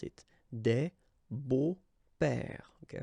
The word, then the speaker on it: beaux-pères: Des beaux-pères, okay? Remember the S, but then it's silent. Des beaux-pères.